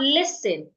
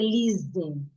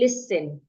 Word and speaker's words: listen: So I have listen. The letter T here is written in red ink. It means that the T is silent.